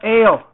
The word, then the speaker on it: Eil: Is it E-L or A-L? A-L. It's pronounced A-L.